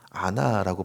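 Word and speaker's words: עָנָה: 3절에서 우리가 마음을 괴롭게 하되라고 말할 때 원어에서 괴롭게를 보면 아나라고 발음하는 장면이 있습니다.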